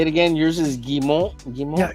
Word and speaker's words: Guimont: How do you How do you pronounce it correctly? Gimmo.